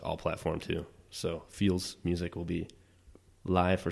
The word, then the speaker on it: Pheels: Pheels. Pronounced Feels.